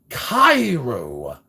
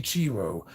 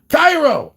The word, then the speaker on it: Cairo: I really pronounce it Cairo. Many people always say Chiro. Cairo. Okay, I'm going to try to remember that. I've been saying Chiro for so long.